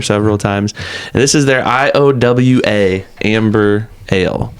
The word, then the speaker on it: IOA: I'm pretty sure you're supposed to spell it out. I think it's a play on the the IA chant that they do at Hawkeye games. I've heard that many a time. So anyways, it's not Iowa.